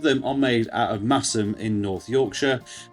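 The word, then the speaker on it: Masham: Both of them are made out of Massum in North Yorkshire. Um spelled Mashim, but I'm always told that's not how you pronounce it. So Massen will be will be for the rest of this video.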